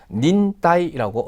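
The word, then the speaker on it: 忍耐: 자 그다음 한자 그렇죠 인내라고 해서 닌 따라고 음덕으로 읽어 주시면 되겠고요 각각의 한자를 가지고이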